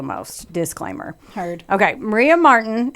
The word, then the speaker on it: Marten: Maria Marten, and this is spelled Marten, and then it evolved to Ti later, but it's Ten, was born on July